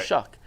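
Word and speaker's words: Shough: this last year at shuck oh shuck is how it's pronounced I listened to like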